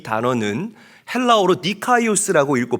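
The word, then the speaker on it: δίκαιος: 여러분, 성경에서 말하는 이 의로움, 의롭다라는 이 단어는 헬라어로 디카이오스라고 읽고 발음합니다.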